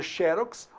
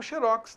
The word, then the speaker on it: xerox: Quando o oxítono terminado em X não tem acento. Quando o paroxítona tem, então cabe a pronúncia xerox ou xerox, tanto faz.